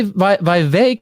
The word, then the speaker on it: Vivek: uh let's talk about V VI rhymes with cake ramas Swami uh Michael's